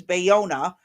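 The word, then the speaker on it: Ballona: bao balona or b it could be pronounced one of two ways and since it's California I'm going to assume it's bayona with the double l's making a y sound wetlands and the bluff treasures in her district.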